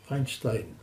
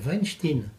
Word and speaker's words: Weinstein: Alors, j'ai apprécié votre prononciation, Weinstein. Il y a une chose qui m'a prodigieusement amusé quand on a commencé à parler de l'affaire, c'est que nombre de commentateurs Faisait la faute. disaient Weinstein, Ah oui.